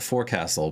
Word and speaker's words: forecastle: It is spelled forecastle, but it is, as a former Navy person, I'm sure my fellow sailors would string me up if I pronounced it that way.